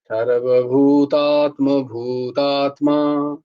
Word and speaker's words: সর্বভূতাত্মভূতাত্মা: এই যে ভু বলছি সর্বভূতাত্মা বলছি না আমি সর্বভূতাত্মা ভূতাত্মা দেখো ভু এর পরে একটুখানি গ্যাপ দিচ্ছি এরম ভাবে উচ্চারণ করতে হয় সর্বভূতাত্ম ভূতাত্মা এবার বলবে